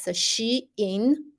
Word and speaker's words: Shein: Actually, is pronounced as Shein, and this is a short version of Shein Insider.